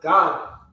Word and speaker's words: Gad: Gad. Gad. All right, it's the same way it's spelled, pronounced God.